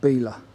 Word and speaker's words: Belaugh: Yeah, I've just been told by one of the locals that this place is pronounced Belaugh. Completely different to what I thought. So, leaving the conservation village of Belaugh, now joining the road to Coltishall.